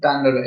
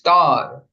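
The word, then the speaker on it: তাঁর: As I said, it's not Tandara, it's tar. Ataiva, tar pai. N is silent here.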